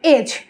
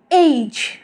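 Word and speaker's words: age: The first one ইজ এজ, আমরা কিন্তু আগে বলতাম এজ, কিন্তু এখন থেকে আমরা বলবো এইজ, এইজ।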